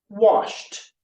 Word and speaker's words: washed: So let's practice that and you can pronounce at home. Everyone, wash, T, washed.